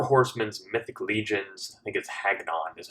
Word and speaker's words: Hagnon: about the four horsemen's mythic legions it gets Haggen on is how you pronounce it I just saw this a big